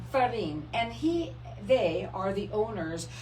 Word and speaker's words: Ferrin: Ferrin.